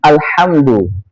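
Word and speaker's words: الحمد: Alhamdu harusnya dia dibaca tipis. Alhamdu. Alhamdu bermakna segala puji. Kalau seorang itu membacanya ditebalkan pakai huruf H besar.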